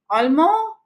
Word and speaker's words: Allemand: You see, when I am saying this, when I am pronouncing this, I am pronouncing it till the last vowel. And here also I am pronouncing it till the last vowel, which is A.